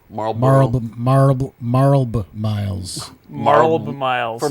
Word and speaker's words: Marlboro: Like, do you don't go like Marlb Miles, It's Marlboro, I would do the L. Marlboro.